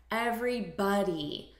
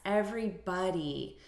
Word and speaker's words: everybody: the syllable stress here everybody so we're stressing the first syllable everybody hey everybody repeat